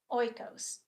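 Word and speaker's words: οἶκος: The word house comes from the Greek word oos. Kind of like the yogurt.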